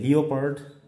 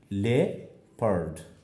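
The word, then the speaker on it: leopard: কিভাবে দেখো আমরা বলছি কি লিওপার্ড, আসলে ই এবং ও থাকলে যে আমরা ইও বলবো তা কিন্তু নয়, আসলে হচ্ছে লে পার্ড।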